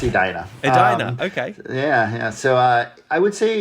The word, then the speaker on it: Edina: How would you describe Edina at that time? Well, it's pronounced Edina.